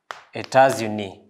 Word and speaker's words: États-Unis: États-Unis. You're able to pronounce the S because the U.